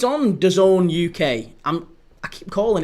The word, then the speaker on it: DAZN: I'm I keep calling it Done. It feels awful to call it Don. It's D A Zn. That's what I see it as. D A ZN. So why it's pronounced Done seems like a bit dafted, but yeah, it